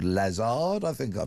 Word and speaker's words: Lazard: He used to be the chairman of a multi-billion-pound asset management firm called Lazard. I think I pronounced that incorrectly, but there you go.